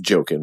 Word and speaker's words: Joaquin: I love Ari Aster so much, and I love Joaquin Phoenix. And when the movie started, it was like... It's pronounced joking, but anyway, go ahead.